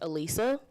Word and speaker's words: Alisa: Um, if you're looking to pronounce my first name, it's pronounced Alisa.